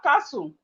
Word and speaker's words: castle: We have castle. We have castle. We have castle. Castle. The T in castle is silent.